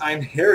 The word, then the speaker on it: Einherjar: know it is pronounced I'm here we are and it is like a Scandinavian word to kind of uh